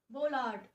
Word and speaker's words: bollard: New word of द डे, the word is बोलार्ड. बोलार्ड इज the correct pronunciation, of course are नॉट. The correct pronunciation is बोलॉर्ड.